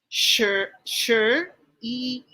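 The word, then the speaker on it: 十一: mishina what is eleven sure e a little bit faster sure e sure good okay just remember when you pronounce sure it's like you're asking better next number twelve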